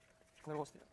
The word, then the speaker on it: Clairaut: So that's actually the general result, which is called Fr002, or I guess if we pronounce it with the French accent, it will be Clairaut.